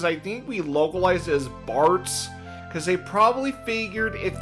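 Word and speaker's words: Bartz: Yeah, cuz um the way he the way his name is pronounced in Japanese, it's Batsu. But we actually I I think what happened is I think we localized as Barts cuz they probably figured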